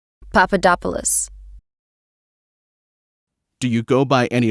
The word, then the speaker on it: Papadopoulos: yes how do you say your last name Papadopoulos do you go by any other names no